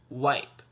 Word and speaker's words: wipe: i p e and i know the e is there because it's the magic e it's what makes that i say its name and it stays silent let's see if we're